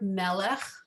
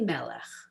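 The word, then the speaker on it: מלך: And it starts out me melech, right? But if you find just the melech part, can you underline that? So they spell it M-E-L-E-K-H, melech.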